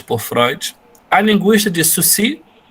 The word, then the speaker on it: Saussure: Freud, do Marx, como é que é a pronúncia em francês, Vinícius, mesmo? Saussure. Saussure, muito bem, que o professor, de maneira muito livre, chama de Saussure.